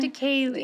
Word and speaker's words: Triticale: Triticale, did I pronounce that one? Triticale. Oh, okay, that was it.